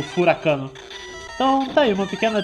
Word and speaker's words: furacão: meses da minha vida achando que a palavra furacão se pronunciava furacano, porque a música começava com "Aí vem o furacão". E aí quando enrolava um pouquinho no vocal, dava uma esticada nesse ó, eu entendia como furacano.